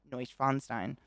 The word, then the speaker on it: Neuschwanstein: schweinstein now schweinstein noy schweinstein oh noy schweinstein neuschwanstein but i'm definitely putting the syllable on the wrong place but thank you